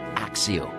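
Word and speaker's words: Accio: see if they how they pronounce it though axio yeah see to pronunciation we know picture the object clearly in your mind and say axio now you try the incantation nice and clearly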